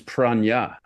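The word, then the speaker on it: prajna: According to the sometimes fallible internet, it's simply pronounced prana, which is how we always pronounced it, rather than the Buddhist word for wisdom, which is pranya.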